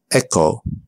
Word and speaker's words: echo: The H is silent. Choir, echo, ghost.